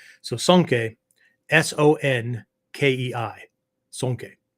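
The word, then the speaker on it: 尊敬: language alphabet to spell out the Japanese uh syllables right so sanke s-o-n-k-e-i sonke right sonke is a word that generally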